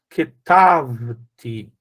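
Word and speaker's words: כְּתַבְתִּי: Então, kitvet, kitvet, ketavti. Então, aqui está no segunda sílaba aqui, ó. Ketavti.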